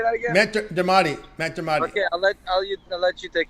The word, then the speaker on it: Matt Dermody: Matt Dermody.